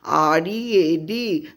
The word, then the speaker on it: read: That is, after full stop you write Mahatma Gandhi, READ, though the spelling is same, but here READ pronunciation is read, that is, it is in past tense.